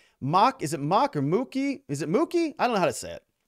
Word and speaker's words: Mook: Mock, is it Mock or Mookie?